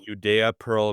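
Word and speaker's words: Judea Pearl: Well, the the one that's English readable is called The Book of Y by Uda Pearl spelled UDA Pearl but pronounced Uda Pearl.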